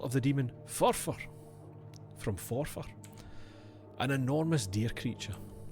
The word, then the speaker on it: Forfar: From Forfar.